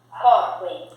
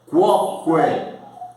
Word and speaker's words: quoque: Silvia, Coque. Quoque. Coque. Quoque. A letra U é pronunciada.